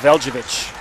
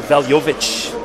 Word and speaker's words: Veljovic: Anastasia Veljevic. Or Veljovic, excuse me.